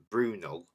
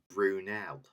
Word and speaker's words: Brunel: He He obviously called it Brunell or Brunal, but of course it's pronounced Brunell.